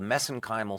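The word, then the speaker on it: mesenchymal: called mesenchimal stem cells I know some of our us viewers are going to they're they're going to object to me pronouncing that way but we did our research in Ireland and that's the way they pronounce msse stem cells I'm gonna take your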